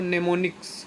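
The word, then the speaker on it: mnemonics: और assembly language में जो यूज होती है स्पेसिफिक कोड, उसको नेमोनिक्स कहते हैं, नेमोनिक्स, एम साइलेंट होता है, उसको नेमोनिक्स कहते हैं, ठीक।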